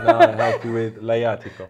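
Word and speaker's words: Lajatico: So now I help you with Laiatico. Laiatico.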